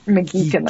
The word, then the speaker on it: McGeechan: McGeechan, I think is how it's pronounced. I see. It was her. Geek like weird. Got it.